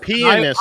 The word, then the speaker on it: pianist: Pianist, Arch. I tell you. Pianist, like piano. Pianist.